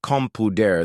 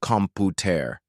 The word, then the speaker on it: computer: Did you know most Americans pronounce computer with a flap? It sounds more like computer than computer. Listen carefully. Compu ra ra ra ra.